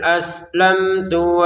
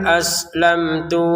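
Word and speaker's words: أَسْلَمْتُ: Fakul aslam tu di sini mimnya bertemu tak, kita baca dengan jelas aslam tu.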